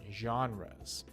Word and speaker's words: genres: a kind of music the word is actually comes from french so that's why it has the long j sound for the g genres just means different